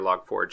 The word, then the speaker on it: Log4j: So as neutral as possible, we had a liaison for several agencies during the Log4j or log forge as it's properly pronounced, and we were asked to scan our